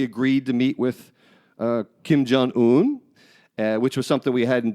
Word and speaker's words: Jong-un: He agreed to meet with Kim Jong-un, which was something we hadn't done. I was in agreement with him meeting with him. I like how you pronounce his name, by the way. Jong-un is proper.